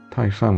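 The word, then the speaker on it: 清: Eh, muitas pessoas chamam de dinastia king, tá? Mas é em chinês a gente pronuncia como tinha, então eu vou falar dinastia.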